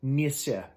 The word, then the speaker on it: Nisser: netflix or is it says in the credits nissa that's how you pronounce it it is the uh scandinavian word